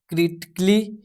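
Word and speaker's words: critically: Rule number 3 कहता है यदि वर्ड के अंत में आइकली आइकली आए तो ए साइलेंट रहता है। जैसे कि यहाँ पे आर्टिस्टिकली जिसमें ए जो है आपका साइलेंट रहेगा। यहाँ पे लॉजिकली यहाँ पे जो है ए जो है साइलेंट रहेगा हमारा। यहाँ पे म्यूजिकली में भी ए आपका साइलेंट रहेगा। फिजिकली इसमें भी आपका जो ए साइलेंट रहेगा फिजिकली में।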